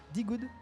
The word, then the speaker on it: DeGood: Et là, je ne suis encore une fois pas tout seul, je suis avec D-Good, c'est comme ça qu'on prononce.